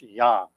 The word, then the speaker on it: yang: energy everybody calls it yang though y-a-n-g it's everybody pronounces that it's yin and yang energy is the way they pronounce it it's actually pronounced yam i do i tell